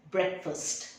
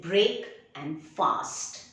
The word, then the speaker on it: breakfast: break the fast but you pronounce it as breakfast break and first don't say break and fast breakfast never skip your breakfast